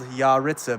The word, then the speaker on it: Yaritza: It's ya and then Ritza. And it's spelled Yaritza, but you say it with Okay, so Yaritza.